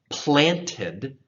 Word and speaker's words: planted: So planted, so that does get pronounced, the T, by streams of water, water.